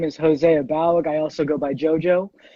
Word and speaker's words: Abaoag: The pronunciation of my last name is Abaoag in the old country. I grew up in Southern California, so we kind of anglicized it, so it's Abaoag.